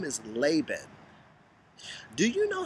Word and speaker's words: Laban: call me here's the thing my name is laban do you know how many times my name has been mispronounced by people so i honestly don't even